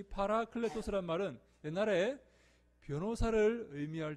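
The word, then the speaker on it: παράκλητος: 헬라어로는 이 말이 무슨 말인가 하면 파라클레토스라는 말입니다. 파라클레토스. 우리 한번 따라해 볼까요? 파라클레토스. 한번 해봅니다. 파라클레토스. 네, 너무 발음 좋습니다.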